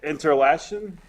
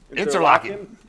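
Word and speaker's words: Interlachen: Do you know what this says without looking at the definition or looking at the pronunciation? Interlaken? Close. Interlocking. Interlocking, Florida.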